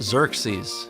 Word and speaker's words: Xerxes: It's pronounced Xerxes.